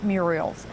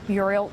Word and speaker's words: murals: will paint the interior murals the work on the Muriel on the murals I've been adding an extra syllable in there haven't I the murals thank you